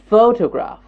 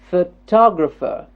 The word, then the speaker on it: photograph: photograph good photograph yes the first word the first syllable is getting stressed photograph photograph yes photograph good in the second word photographer photographer photographer it's a four syllabic word and what's getting stressed the top photographer photographer photographer yes photographer